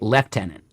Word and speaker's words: lieutenant: If you're in the UK, left tenant.